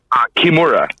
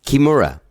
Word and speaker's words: Kimura: do you say your last name real fast kimura kimura all right yeah that's perfect um sorry just making sure i have the pronunciation written down right so i don't make